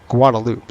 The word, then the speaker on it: Guadeloupe: It's spelled Guadeloupe, but they don't say the G. It's a silent G.